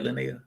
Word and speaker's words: Lynaia: giveaway night yeah you all heard it uh jordan did i pronounce the right lynae yes yes all right lenaya jordan uh i might just have to call